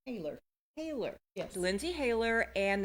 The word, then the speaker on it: Hayler: Haylor.